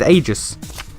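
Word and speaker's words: Aigis: pounding into my head the Japanese pronunciation of her name is ages and Igor actually be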